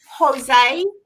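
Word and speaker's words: José: hey um solar Reagan do I say Jose because isn't it a j pronounced h Azel hey you know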